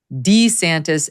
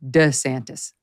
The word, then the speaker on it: DeSantis: pronounce his name and there is a discrepancy in how Ron DeSantis has pronounced his name over the years and even recently it goes in between D santis and DeSantis now I have sympathy